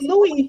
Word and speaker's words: Louis: Our dynamic dean, it's Louis, Okay. even though the S is there, but then you have to be silent with it.